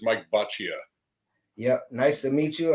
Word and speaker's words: Boccia: him do it no that's good it's Mike bachia yep nice to meet you uh before we